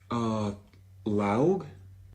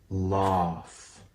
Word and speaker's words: laugh: How do you say this word? Laug? No. Laugh.